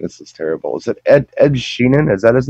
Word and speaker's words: Ed Sheeran: Is it Ed Sheeran? Is that his name? Ed Sheeran.